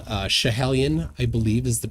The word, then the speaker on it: Schiehallion: So what they used is a mountain called Schiehallion, I believe is the pronunciation, which is in Scotland.